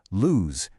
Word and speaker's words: lose: Lose, meaning to misplace something, has a Z sound that rhymes with news.